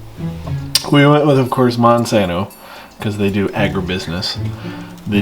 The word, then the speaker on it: Monsanto: I need companies that we could profit off of because of, horrible stuff like Monsanto. It rhymes with Onsano.